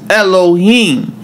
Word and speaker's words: Elohim: When we say God's name, Eloi, or some pronounce it Elah, all right, in Genesis, it's Elohim.